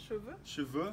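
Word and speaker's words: cheveux: a Siobhan's yes yeah how do you say hair shavoo yes and what should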